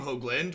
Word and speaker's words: Hoagland: if you pronounced at hoogland or Hoagland like mine I pronounce my name Hoagland with the long o sound long long o sound